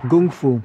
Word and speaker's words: kung fu: The definition of kung fu, or gung fu, as Bruce Lee pronounced it, a lot of people think that's just meaning martial art.